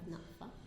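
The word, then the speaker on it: Nakfa: But now we have NAFA.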